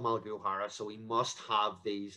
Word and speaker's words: Malachai O'Hara: in our history um so paul i'm called malaguhara there's a father in there you can kind